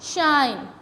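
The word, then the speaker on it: shine: यानी कि हम इसको SHIN शिन नहीं पढ़ सकते, इसको अगर हम शिन पढ़ते हैं तो ये शॉर्ट वावल की साउंड देता है और ये गलत प्रोनाउंसिएशन हो जाती है। तो हम इसके एंड पे साइलेंट ई को रिमेंबर रखेंगे और हम इसको कैसे प्रोनाउंस करेंगे, शाइन, ठीक है जी।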